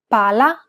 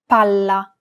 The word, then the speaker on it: palla: Pala. Palla. Remember how Italian is a syllable-timed language? Imagine that you're holding that consonant sound for one extra syllable.